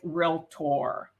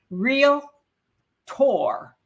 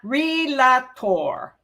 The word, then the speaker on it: realtor: I am an active realtor okay and you see that real tour two syllables not relator it doesn't have three syllables has two real Tor okay and